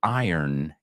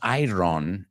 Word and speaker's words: iron: So I guess they are striking while the iron is hot. Y fijaos en la pronunciación, no es iron, no es iron, it's iron.